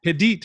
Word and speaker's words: Hadit: Hadit, by the way. That's how you pronounce her last name for everyone who doesn't know.